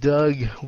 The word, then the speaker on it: dug: À, so cái chữ dug với lại cái chữ dig hoặc là chữ big, right?